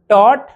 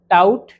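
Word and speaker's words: taught: और आवाज एक बार फिर से ध्यान दो, teach, टॉट, टॉट, टाउट, टाउट नहीं, catch, cot, cot, cout, cout नहीं, बाय, बॉट, बॉट, बाउट, बाउट नहीं, fight, फॉट, फॉट, फाउट, फाउट नहीं।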